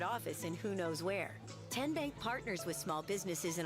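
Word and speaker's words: TN Bank: How do you say the name Ten Bank? Nope. Tin Bank? Uh-uh. So, what is it? Tenbank. 10 as in Tennessee.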